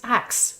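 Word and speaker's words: Haxe: pronounce it well the the guy who invented it uh nikola is french so i'm sure in his mind it's axe because there's no h in french we just don't say them but ever since uh audell has discovered it he says haksey so i say hexy as well but you know okay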